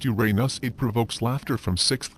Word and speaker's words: Uranus: language if it's pronounced Uranus it provokes laughter from sick graters the alternate pronunciation ewr in us is not much better perhaps we should go back to the original Greek pronunciation oor in us